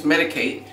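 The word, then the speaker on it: Medik8: I used I use medicate it's spelled me i k and the number eight um I didn't bring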